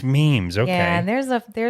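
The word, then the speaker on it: Meem's: pronounce the name of the business? Is it It's Meem? memes. It's memes.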